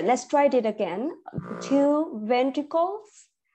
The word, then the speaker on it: ventricles: try it again two ventricles because ventricle okay we have an S at the end right so two ventricles